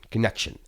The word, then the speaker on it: Conxion: The organization is called Connection to Community, and it's spelled Conxion, Connection.